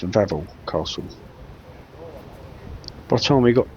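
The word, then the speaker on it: Wawel: one we were reliably informed it's not pronounced W well Castle it's pronounced Vel Castle but time we got this far we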